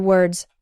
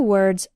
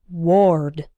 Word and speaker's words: word: an oh don't say ward or something like that if it's difficult try closing your eyes and repeating after me word rhymes with bird work rhymes with perk